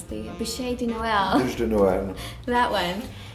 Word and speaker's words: bûche de Noël: All right, and this cake recipe that I can't pronounce, the bûche de Noël.